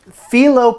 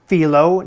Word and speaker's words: phyllo: Now, I have phyllo pastry here, which I believe is pronounced phyllo, not phyllo. Phyllo.